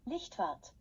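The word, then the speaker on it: Lichtwardt: Norwood and Charlie Mullen outlined an animation, and Ellen Lichtwort, I can't pronounce it, it's a German word, I think. It's spelled Licht, so Lichtward, animated a glow to the vehicle.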